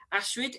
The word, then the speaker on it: Astrid: to be speaking to Astrid is that how you pronounce it yes that's one way to pronounce it that's good how do you pronounce it it really depends which language you're using my dad is German